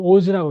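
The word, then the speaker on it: 大洲: 지금은 오즈라고 읽어요.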